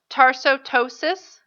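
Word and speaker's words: tarsoptosis: Tarsotosis has a silent P in it. It's kind of confusing when you look at the word.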